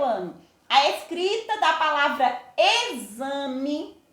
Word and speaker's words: exame: São palavrinhas que são escritas com X, mas na hora que eu pronuncio tem som de Z.